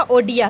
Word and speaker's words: ओडिया: और 96 संशोधन के तहत जो ये बोला गया कि ओरिया जो है उसको प्रोनाउंस किया जाएगा ओडिया के रूप में।